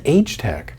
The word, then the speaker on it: AgeTech: They think H as the letter, so it that's AgeTech.